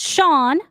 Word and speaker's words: Sean: That is Sean is pronounced Shawn.